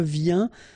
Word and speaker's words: viens: Je viens, final S not pronounced, okay? And when you combine this IEN, you get this yin, yin.